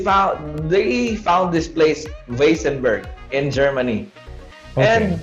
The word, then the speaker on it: Weissenberg: wasenberg in germany and the spelling is is like this it's like the last name of the owner it's way great so that's why it's supposed to be vasenburg because it's german but because of um